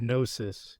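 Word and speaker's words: gnosis: The G is a silent letter as in our word nosis and the sound GN is nasal suggesting therefore the breath of life as opposed to that of speech.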